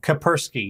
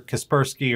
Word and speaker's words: Kaspersky: Kapersky, yeah. They're Kapersky, or Kaspersky, or whichever it is.